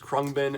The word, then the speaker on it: Khruangbin: uh abound krupa because i don't think they pronounce the n or the ang part or whatever so it's